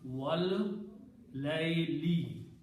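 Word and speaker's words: وَاللَّيْلِ: Whenever qasam is made, then last letter changes into a kasra. So when you pronounce these three together, it will be pronounced wal layli.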